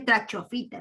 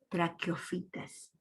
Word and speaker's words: traqueofitas: Recuerda que en latín el traqueo, Q, se escribe como CH. En latín, el Q se escribe como CH. Traclec, y la PH es la F. Sí sabes, ¿verdad? Entonces, traqueofitas, se lee así. No va a decirme trachofita, ¿no? O trachopita, no. Traqueofitas.